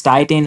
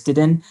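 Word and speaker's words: titin: the Titan protein uh I don't know whether it's Titan or whether it's Tiden different people pronounce it differently I'm going to call it Titan or something sometimes Titan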